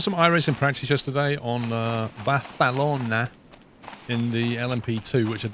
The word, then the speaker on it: Barcelona: He puts his tongue between his lips and when he says it and says, yeah, Barcelona. Barcelona. It's really weird the way the Catalonians pronounce that letter.